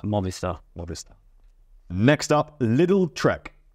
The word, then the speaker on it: Movistar: How do they pronounce it? Like Movistar. Movistar.